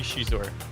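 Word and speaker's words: Xizor: How do you say Shizor? Do you say Shizor? Do you say Zizor? I think it's supposed to be Shizor. Shizor is how it is in the audiobook, so, you know.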